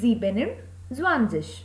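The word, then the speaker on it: siebenundzwanzig: and then zwanzis okay even in case of 27 en and u can be written together that is why s spelling of 7 is written completely which is zeben then added und and then zwanzis so 26 will be sexual swanseas and 27 will be zebenem zwanzis 28 is akhtun zwanzis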